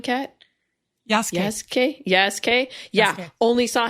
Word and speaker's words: Yasuke: How do you pronounce the samurai's name, Kat? Yasuke.